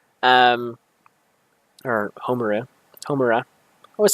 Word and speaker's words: Homura: basically, like actual thing, harnessing the power of Haruma, um, or Homura. I always say her name wrong. Um, Homura.